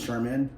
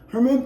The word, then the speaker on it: Sherman: Some people are stupid and they can't hear me when I say my name, so they're like, Herman, Thurman, Kermit? Not Thurman. Not Kermit.